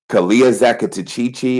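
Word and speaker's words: Calea zacatechichi: Kalia Zakatachichi. I'll spell it Calea.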